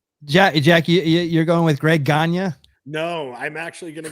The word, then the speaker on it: Gagne: Let's go with Greg Gagne, not Gagne.